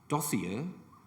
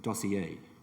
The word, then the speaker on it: dossier: thank you number three this is a word that has two possible pronunciations dossier or dossier dossier or dossier but